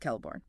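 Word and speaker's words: Celeborn: Kellibornne again, pronounced Kellibornne.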